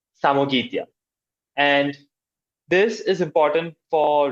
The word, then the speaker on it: Samogitia: would be fighting is around this area called Samagelia. I think that was the correct way it's pronounced. Simon, keep me honest. It is pronounced as Samogitia. Samogitia.